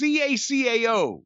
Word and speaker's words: cacao: That's how it's CACAO.